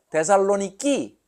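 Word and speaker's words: Thessaloniki: 공주의 이름이 어 살로니카 그러니까 데살로니키 저쪽 사람들은 그렇게 발음을 해요 데살로니키 그 대는 영어로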